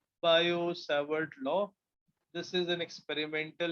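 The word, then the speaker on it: Biot–Savart: Similarly, to find the magnetic field due to current carrying wire, we have another experimental law called as Biot-Savart. T is silent. Biot-Savart law.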